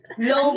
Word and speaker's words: Loeb: Loeb, like an earlobe. Like an Okay. earlobe. Earlobe, like lobe. Loeb.